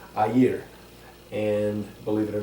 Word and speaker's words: air: well locally it's pronounced a year there is almost a two syllable pronunciation a year and believe it or